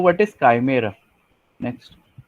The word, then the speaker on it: काइमेरा: This is called as chimeric काइमेरा। ठीक है, ठीक है, प्रोनाउंसिएशन आप चेक कर लेना एक बार, कीमेरा नहीं है, काइमेरा है, ठीक है?